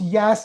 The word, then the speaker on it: Yaas: pronounced Yas, like the way the kids say Yas, Yeah.